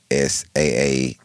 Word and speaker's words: Saadiq: Right, My name is Siddiq. His name is Saadiq. right. It's actually pronounced different.